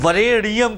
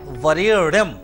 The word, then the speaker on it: वरेण्यं: उसमें बहुत ध्यान दीजिए लोग क्या करते हैं वरे नियम कह देंगे जबकि शुद्धता क्या है वरेणम धीमहि धीमहि कह देंगे तो मात्रा और उच्चारण